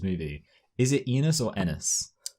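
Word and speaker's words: Ennis: I feel like it's enis because enis sounds too much like penis and nis is how it's pronounced.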